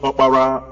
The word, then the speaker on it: Opara: The name Oprah, as pronounced by Americans today after the woman known as Winfrey Oprah, is also a name among the Igbos pronounced Opara or Opara, meaning the first son of a family.